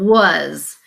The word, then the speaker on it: was: would pronounce it wise but this vowel sound is actually the short u sound uh so and then